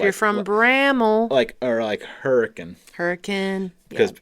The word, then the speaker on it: Hurricane: Hurricane. Because outsiders would come in and say, well, I'm going to Hurricane. And then you would have to correct them and say, well, actually, honey, you're pronouncing it wrong.